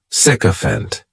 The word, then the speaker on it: sycophant: noun is sycophant and this noun has three syllables and the stress is on that first syllable the spelling May throw